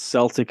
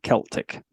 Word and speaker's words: Celtic: And the amount of people that I get that make sure that I know that it's Celtic and not Celtic. Oh, God, yeah, yeah. There's like, no, it's definitely Celtic.